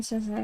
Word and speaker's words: Snezhnaya: The stress in Snezhnaya is supposed to fall on E.